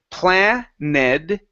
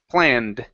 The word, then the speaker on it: planned: So instead of planed, it's planned.